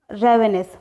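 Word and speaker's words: ravenous: Now guys the next word is रेवेनस। रेवेनस को आप pronounce कीजिए रावेनस, क्योंकि मेन मोटो अपना जो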